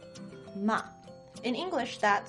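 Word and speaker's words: 骂: tone ma means horse in the fourth tone ma means to scold or to yell at now what is all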